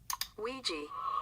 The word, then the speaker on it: Ouija: data analyst expert to give us the proper pronunciation of this word Ouija oui Bo ladies and gentlemen these Bo were